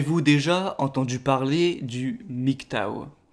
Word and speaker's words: MGTOW: déjà entendu parler du nyc tao alors le mic tao qui s'écrit dans le propose en français mg et théo w ce qui est assez